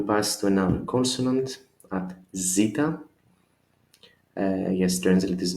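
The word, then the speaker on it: ζήτα: Pronunciation always sounds as Z, zoo or zebra. It's just a Z, Z, zeta.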